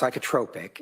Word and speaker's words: psychotropic: It's pronounced psychotropic.